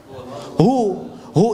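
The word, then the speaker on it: هو: Huwal hayyul qayyum itu kalau nyambung, kalau berhenti di hu bacanya hu.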